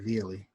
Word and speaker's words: Viali: It's an I, Viali.